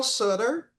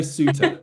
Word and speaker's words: Suter: And I got Leo Sutter Yes, you and I do. have Sophia Barclay. Am I saying it right, Leo? You are. Yeah, it was close enough. Leo Suter, but Suter. Okay, Leo Suter Suter.